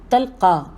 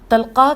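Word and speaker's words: طلقاء: یہ ایک سند ہے۔ تلقا تو میں آپ کو ہجے کر کے بتاتی ہوں، توئے لام قاف الف اور بعد میں حمزہ، تلقا کہہ کر معافی دی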